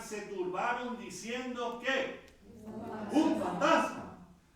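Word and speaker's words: φάντασμα: Es la misma, pero con el acento en otro lugar.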